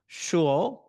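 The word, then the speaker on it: 说: In the Chinese, the Mandarin, we have the word shuo. I try to get that correct. I know it's an H, but it's a long O sound, and then with an A at the end.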